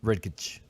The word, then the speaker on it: Redkach: Pronounce it, please. Redkach.